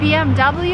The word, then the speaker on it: BMW: a German car and in Germany you would say BM back but if you're in America and you want to sound American it's BMW and no other options BMW I have